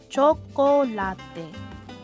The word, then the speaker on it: chocolate: the birthplace of chocolate pronounced chocolate in spanish the ancient aztec enjoyed